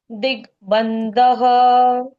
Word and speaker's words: दिग्बन्धः: दिग्बन्धः। दिग्बन्धः। ऋतुः सुदर्शनः काल इति दिग्बन्धः। ऋतुः सुदर्शनः काल इति दिग्बन्धनः। बंधनः कहाँ है? बंधः। बंधः। बंधन क्यों पढ़ा मैंने?